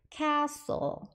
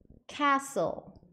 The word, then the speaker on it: castle: 여기서 T가 묵음이어서 castle하고 T는 발음 안 하시고 L 발음으로 바로 넘어가셔야 돼요. 그래서 castle A가 단모음 소리 에 발음이에요. castle 두 번 해보실까요?